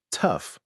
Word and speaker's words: tough: Tough rhymes with stuff, enough, rough, bluff.